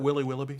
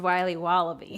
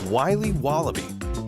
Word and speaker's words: Wiley Wallaby: Can I have a piece of that Willy Willoughby? Wally Wibbly. Wiley's Wallabies. Wallaby Wallies? Wilby Wababy? It's pronounced Wiley Wallaby. Well, it's very good. It's called Wiley Wallaby, and it's delicious.